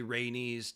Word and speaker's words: Rhaenys: you got to say rhaenys daenerys and annie's a knees is the bee's knees that's that's my opinion so you got to say it like that otherwise you can do